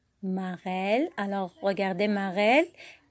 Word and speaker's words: marelle: Marelle. Alors, regardez marelle. Le mot marelle contient le son L. Vous voyez? Alors, on a dit que E entre deux consonnes va se prononcer quoi? Et.